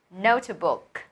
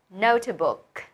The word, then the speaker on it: notebook: Chính là notebook. Notebook. Good. Trọng âm đầu tiên nhé. Notebook.